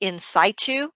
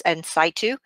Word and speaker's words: in situ: saito neoplasms this is abbreviated CIS but it's pronounced in situ you have some people to say and said - but it's in situ I noticed they say it different in the